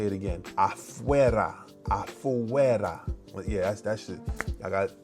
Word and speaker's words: afuera: Afuera.